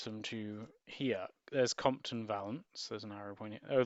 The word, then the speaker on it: Valance: Okay, so you seem to pronounce the third syllable, so it's Valance, apparently. Valance.